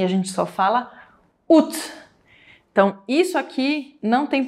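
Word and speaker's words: août: a gente só fala UT, Então isso aqui não tem pronúncia, Você só vai falar isso aqui. “Ut”. E ainda não é com som de “î” e com som de U mesmo, Ut.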